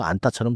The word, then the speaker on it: 앉다: 안따에서는 니은직 겹받침이 니은으로 발음되고 뒤에 디귿은 된소리 쌍디귿처럼 납니다. 그래서 안따처럼 들려요.